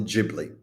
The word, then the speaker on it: Ghibli: It's pronounced Ghibli, not Ghibli. Okay?